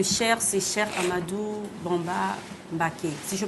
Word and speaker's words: Mbaké: Alors, on parle de lignée, tu es Bousso, mais le Cheikh, c'est Cheikh Ahmadou Bamba Mbaké. Si je prononce bien, c'est ça, oui. Mbaké?